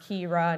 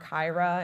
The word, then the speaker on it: Kyra: I also say make your bio fun like mine says my name is pronounced Kira, not Kaira and like with the phonetics and everything, which is super fun.